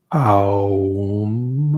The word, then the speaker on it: Aum: It's not, even though in English letters or Roman letters, you spell it O-M. If we were to kind of spell it out, it's Aum. And so there's three sounds.